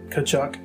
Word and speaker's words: Tkaczuk: the name that he knew and stuck with kachuk through his second year with the rangers as